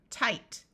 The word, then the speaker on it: tight: IGH has a long I sound, so this part is I. So the word is sigh, tight.